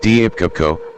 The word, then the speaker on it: Deepika: Deepika Padukone, pronounced Deepka, born January 5, 1986, is an Indian actress who works predominantly in Hindi films.